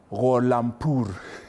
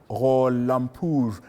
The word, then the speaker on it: Gholampur: Ali Gholampur. Your Excellency, I have tried to say it right. Yeah, that's the pronunciation, exact pronunciation. Yes, His Excellency Dr. Ali Gholampur, who is, of course,